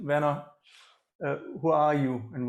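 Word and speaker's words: Wien: to werner himself uh actually vienna would be the german proper german pronunciation venna uh who are you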